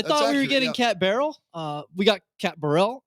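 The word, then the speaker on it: Barrell: that's true I thought we were getting cat barrel uh we got cat Burrell which fine okay probably better probably better so time out cat barrels come out her last name is b u no Burrell no okay it is Barrel I thought Brian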